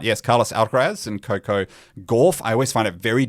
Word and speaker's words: Gauff: last name correctly, but I believe it's Gauff. Is it Gauff rather than Goff? Yeah. It's got a bit of an aw. Well, not Gauff. Gauff. Well, it is spelt with the or The or sound, yes.